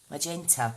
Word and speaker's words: magenta: Soft G. Magenta. Thank you, Janice. Not magenta.